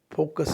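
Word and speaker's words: far: अप, इसमें ए पे ज़्यादा फोकस है, स्ट्रेस है। नेक्स्ट है फार, फा, आ पे को थोड़ा सा ज़्यादा टाइम देते हुए फा, रे को साइलेंट, फा।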